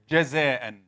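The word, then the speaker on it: جزاءً: Many people say jaza. Ja. Many qurra, reciters. It's not ja. The minute you have it flowing, it's ja.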